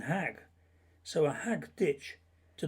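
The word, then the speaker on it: hæg: The Mercian pronunciation would have been hag, so a hag ditch to the Mercian Saxons was a meadow enclosed by a wall or a ditch.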